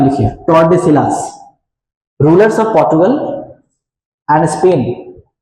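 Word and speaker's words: Tordesillas: ठीक है, उसके बाद ट्रेटी ऑफ टोर्डेसिलास. इसका स्पेलिंग देख लीजिएगा, थोड़ा सा हम टोर्डेसिलास बोल लेते हैं. स्पेलिंग है TORDE, टोर्डेसिलास.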